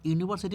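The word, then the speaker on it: university: কারণ ইউনিভার্সিটি উচ্চারণ করতে গেলে ইউ এর উচ্চারণটা ইউ এর মতনই হচ্ছে।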